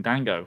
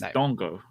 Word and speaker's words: Dango: first name wrong really I've been saying Dango which is which is not right is Dongo which is because it's French it should be dongle but it's a it's